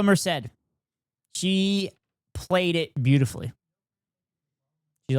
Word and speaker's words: Merced: a Dina S cuz Isabella Mora or Msad. Fuck, I got her fucking name right. I got I got her name wrong. Isabella Merced. I think it's Isabella Merrced. Yeah, Isabella Merrced.